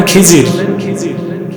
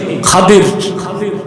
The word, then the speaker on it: খাদির: তার নাম হযরতে খাদির আপনার নামটা ভুল বলেন খিজির আসলে উচ্চারণটা কি? খাদির খাদির খাদরন খাদরা বলা হয় সবুজকে।